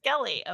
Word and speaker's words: Brinskele: Is that pronounced right? Brinskele is how you say Brinskele.